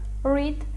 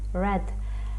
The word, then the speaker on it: read: you read От бачите дієслово read читати в першій формі читається як read а в другій і третій формі буде писатися так само але вже читати як Red Have you read Any